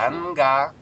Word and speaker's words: ганга: Получается, что в слове ганга у нас звук Н звучит не как нга, а как вот обычный Н.